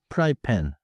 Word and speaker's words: 프라이팬: P that one feels almost like English butorean style. 맞아요. but keep the Korean rhythm pry pen.